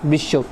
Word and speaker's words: বিশ্ব: double pronounce করা হয় যেমন বিশ্ব বিশ্বের ক্ষেত্রে তোমার তালিব কিন্তু একটা বার সংযুক্ত আছে যখন আমরা উচ্চারণ করেছি তখন কিন্তু তোমার দ্বিতীয় উচ্চারণ হয়েছে যেমন তালিবেশ দুইবার উচ্চারণ